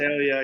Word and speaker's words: Visalia: But the city is it Visalia? Is that how you pronounce it? Visalia, yeah, that's Central Valley.